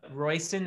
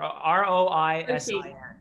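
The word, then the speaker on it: Róisín: I don't think I'm pronouncing it correctly, but it's Royston or R O I S I N. Royston. Royston. Yeah, that's what I would say. It might be an S. I don't know, but anyway, she's not nice. I've got some friends from Ireland, and they pronounce it Roisin.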